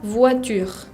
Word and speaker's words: voiture: La O con la I se pronuncia wa. Wa. Par exemple, la palabra voiture. Voiture es un auto. Voiture, uso esa combinación O-I para producir el sonido wa.